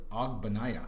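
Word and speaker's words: Ogbonnaya: Chris Ogbanaya.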